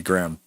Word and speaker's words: Graham: Graham yeah so he make one syllable of his name we should find how many syllable one or two say Graham you you don't want to say the H no no so it's definitely goingon to be Graham but he was uh because